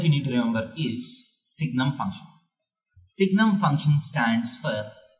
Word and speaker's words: Signum: is called Signum function we don't call it seinem function because sine is under trigonometric ratio which you know name has already been taken so we pronounce it as signal function so what is the